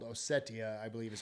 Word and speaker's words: Ossetia: from a place called Ossetia, I believe is how it's pronounced.